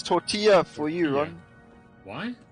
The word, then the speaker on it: tortilla: In Spanish, double L is pronounced as in English Y.